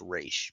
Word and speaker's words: Ra's: Well, technically, it should be pronounced Raish, but they go back and forth.